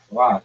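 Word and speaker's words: quoth: It like rhymes with. It's rhymes with oath.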